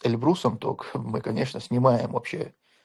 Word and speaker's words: Эльбрус: Эльбрус, говорят правильно, Эльбрус делать ээ ударение на второй слог.